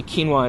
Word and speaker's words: quinoa: And one of those things is the United Nations called it the year of quinoa, which is this, and apparently quinoa is how you pronounce it.